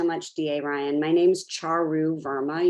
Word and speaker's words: Charu: My name's Charu Verma. You pronounce it cha-cha-cha with a ru, and I use she, her pronouns.